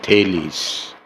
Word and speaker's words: Thales: Greek words are pronounced this way.